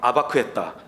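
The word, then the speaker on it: אבק: 그리고 씨름은 아바크입니다. 막 머리 아프죠? 그냥 여러분 편하게 들으십시오. 야코브가 야보크에서 아바크했다.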